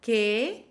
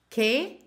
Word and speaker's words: qué: Übrigens, que mit Akzent wird genauso ausgesprochen wie que ohne Akzent.